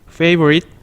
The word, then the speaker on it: favorite: 단어는 어떻게 읽냐면 favorite. 마찬가지로 글자가 트자가 작죠. 작은 거는 끝에 살짝 작게 발음합니다. 그래서 favorite라고 보시면 됩니다.